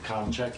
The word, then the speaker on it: Kolashak: sales clerk application for Kolashak. Colin check, yes. Did I say it right? It's Colin check. Everybody gets it wrong.